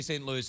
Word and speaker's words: St. Louis: Louis your best to say st. Louis is because if you say st. Louie you know what they